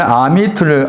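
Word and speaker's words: עמית: 말이죠 여기에 단어가 있잖아요 여기에 단어가 읽으면 아미트를 아미트라고 읽어요 아미트 친구 사이를 말하는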